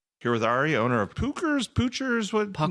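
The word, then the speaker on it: Puchers: Not only do they not do it and how do you spell it, right? I was just going to say it's Pookers and it's P U C H E R S.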